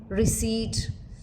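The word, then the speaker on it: receipt: as PO with aspiration silent in words like cboard pneumonia salum receit where P remains silent alic variants of per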